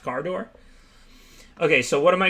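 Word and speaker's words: Kardur: so so then was i right cinquenon is it just pronounced car door like i said like everybody argued with me but we all know it's pronounced car door okay so what am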